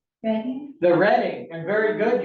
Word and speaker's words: Reading: One is named after my hometown and most people mispronounce it. Please don't do that. What's it start with? An R. Reading.